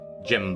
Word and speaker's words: Jimb: Jimb, but the B is silent. P-type silent B.